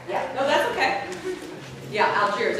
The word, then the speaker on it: Algiers: A-L-G-I-E-R-S. Oh, Algiers. Algiers. Oh, Algiers. Okay. Algiers is when they were having problems with the pirates. Oh, okay. Yeah. Sorry. Yeah. No, that's okay. Yeah, Algiers.